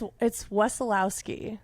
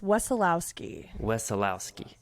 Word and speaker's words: Wesolowski: It's none other than Huntsville musician and leader of the Band, Wesolowski. Did I get that name? It's Wesolowski.